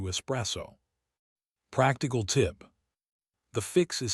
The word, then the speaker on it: espresso: So why do English speakers add an X? It's because we have a strong prefix pattern in English with X. We say express, explain, expel, export. Our brains are so trained to hear X at the beginnings of words that we unconsciously add it to espresso.